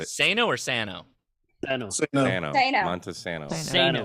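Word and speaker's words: Monte Sano: Do either one of you from Alabama want to tell Josh how to pronounce the park we're staying at? What is it? Monsanto? Is it not Monta. Monta? Montesano.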